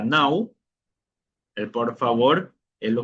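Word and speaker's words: não: es sin tenemos el el no, en portugués sería now.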